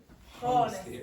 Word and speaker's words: honestly: For all the Italians in the class, unfortunately, there are a few words in English where you don't pronounce the H. Okay, so you don't pronounce the H here.